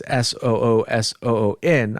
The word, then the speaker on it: Suisun: Okay, let's go to the next one, which is from Suisun City, spelled Suisun, but the person put in parentheses Soosoon. I'm assuming that's a pronunciation. Suisun City on the 12th of November at 13:15, which is 1:15.